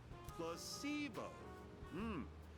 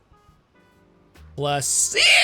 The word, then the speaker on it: placebo: Repeat after me. Placebo. The stress is on the middle syllable. Placebo.